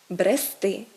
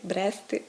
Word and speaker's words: брести: наголос падає на закінчення правильно говорити нести брести вести мести а не так як звикла досить значна частина аудиторії мести брести плести це все неправильно далі похідні форми якщо